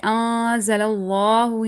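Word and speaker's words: أَنْزَلَ اللَّهُ: Okay, anzalallahu, here the standing fatha, you need to stretch it, not anzalallahu. That's really, really wrong.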